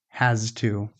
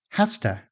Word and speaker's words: has to: Careful pronunciation is has to. But natural conversational speech often sounds more like has-ta. The z, the voiced z, becomes voiceless before the t.